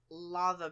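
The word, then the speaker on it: laver: fabulous and it is lava bread yeah and it's spelled l a v a r yeah I think but you guys pronounce it lava don't you because I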